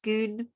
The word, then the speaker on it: Scone: them scones yeah so it's spelt the same but it actually is pronounced schoon and and that's where